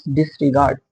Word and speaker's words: disregard: It is unstressed then again unstressed, and then a stressed syllable like d, d, da, d, d, da. Okay. First example is disregard. Disregard.